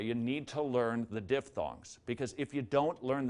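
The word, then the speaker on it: diphthong: to the person next to you and say diff thongs or don't diff thongs are vowel combinations two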